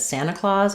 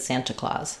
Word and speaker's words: Santa Claus: Um, you noticed that at first I said Santa Claus and then I said Santa Claus. That's cuz there's two ways we pronounce NT. We either leave it out entirely, which sounds like Santa.